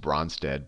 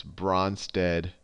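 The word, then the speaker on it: Brønsted: don't know the correct, I always say just Bronsted, but if you don't have fancy fonts, it's spelled like this, Bronsted Lowry acid or base, and I'll say, if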